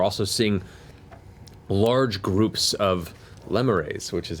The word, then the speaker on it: lemures: from, though you're also seeing large groups of lemures, which is how it's pronounced, as I've been corrected. And I'm so glad it's pronounced that, not lemurs, because it sounds awful in hell.